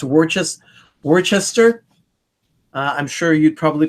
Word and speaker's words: Worcester: I think it's pronounced Worcester.